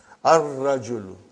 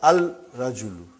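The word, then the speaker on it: الرَّجُلُ: Ar-rajulu. The man. Not al-rajulu. It will be wrong to say al-rajulu. It will be ar-rajulu. We won't pronounce Lam. Why? Because it is a sun letter.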